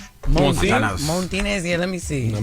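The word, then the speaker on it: Montanez: No, it ain't ain't no R in it. It's spelled M O N T A N E Z Montinez.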